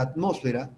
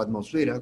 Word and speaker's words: atmósfera: Entonces, la atmósfera, o atmosfera, como otros también lo pronuncian, es la capa gaseosa.